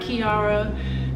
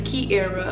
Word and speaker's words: Kier: basic intro right so my name is Kier not Kira not Kiara not Kyra is Kera a lot of people a lot of people mispronounce my name but it's Kera I'm 23 years old